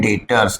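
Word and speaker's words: debtors: है उसे कहते हैं डेटर्स। क्या कहते हैं? डी ई बी टी ओ आर एस। इसमें बी क्या है? साइलेंट है। बी का प्रोनंसिएशन में बी वर्ड नहीं आएगा। ठीक है?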